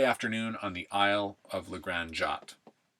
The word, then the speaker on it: La Grande Jatte: on the Isle of Legrand jot Legrand jot is LA and then Grand GRA nd and jot is j8 ET e j8 ete Sunday afternoon on